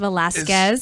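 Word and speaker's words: Velasquez: you can't get in PH Jackie Velazquez it's pronounced of Velazquez and she is a former Christian music artist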